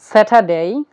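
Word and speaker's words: Saturday: সেটা ডে সেটা ডে আর এর পরে ডি রয়েছে এজন্য আমরা আর এর উচ্চারণ করছি না আর যদি আমরা আর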